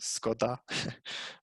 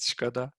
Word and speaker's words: Škoda: Like everyone, what we already knew about Škoda, although in Turkey it's pronounced Skoda, not Škoda.